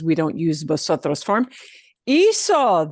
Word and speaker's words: hizo: Hizo, the C turns into a Z.